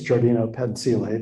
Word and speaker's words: giardino pensile: say that in spanish but in italian it's giardino pensile there it is i